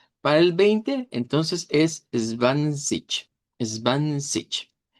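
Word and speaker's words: zwanzig: Entonces, eh cambia el sonido y vamos a decirlo como zbank zic. Es una pronunciación con K que decimos que suena más al dodge sureño o dodge austríaco y decirlo como eh es van con un sonido como que fuera una especie de ch o de o bueno, más bien de sh. Eh, svansich, svansich sería la pronunciación en dodge neutro.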